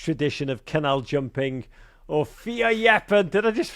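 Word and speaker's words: fierljeppen: in the Dutch tradition of canal jumping, or vierjappen. Did I just pronounce that right? Yeah, kind of vierjappen, we say.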